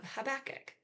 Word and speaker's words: Habakkuk: little tiny book of Habach or Habac. I've heard it pronounced both ways.